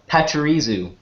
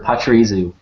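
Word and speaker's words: Pachirisu: to make the tail uh can you uh spell it p-a-c-h-i-r-i-s-u oh uh pacharizu thank you uh that's that's how i pronounced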